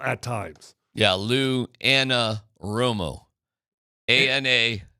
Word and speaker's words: Anarumo: Anarumo. How am I doing on my pronunciation? Anarumo.